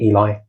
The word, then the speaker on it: Eli: I see mo a lot of people in in Israel pronounce it. It's just Ellie rather than Eli.